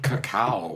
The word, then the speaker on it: cacao: How do you say? Cacao.